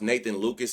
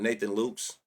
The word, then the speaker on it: Nathan Lucas: I don't trust none of these His name is pronounced Nathan Lucas and not Nathan Luke's.